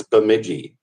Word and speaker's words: Bemidji: do you how do you say it it's Bemidji just like it's common spelling okay yeah that's